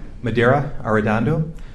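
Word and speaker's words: Medaria Arradondo: spelling each of your names yes your honor madeira are dondo first name is spelled m-e-d a-r-i-a last name is a r-r-a-d-o-n-d-o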